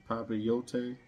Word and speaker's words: papillote: Papillote. Normally 2 L's makes the Y.